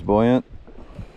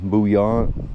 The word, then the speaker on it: buoyant: I'm going to be running a Thomas buoyant. I don't know why people pronounce it uh buant. That's incorrect. Like a buoyancy if you think about it.